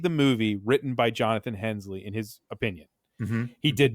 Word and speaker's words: Hensleigh: it, Michael Bay was really mad about Jonathan Hensleigh.